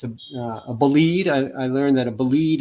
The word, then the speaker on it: Bolide: But when I first saw bolide, I thought bullied. I mispronounced it.